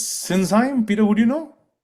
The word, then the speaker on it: Sinsheim: It's me, Peter Renins from Sinsheim. Yes. All right. How do you pronounce it again?